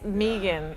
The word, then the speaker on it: Megan: It's Megan. So It is Megan. So Okay. like the easiest way I tell people to pronounce it is like pronounce it with 2 E's, even though there's no 2 E's.